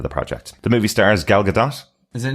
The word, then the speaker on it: Gal Gadot: The movie stars Gal Gadot, Is it not Gal Gadot? Weirdly, I think she actually pronounces it Gal Gadot.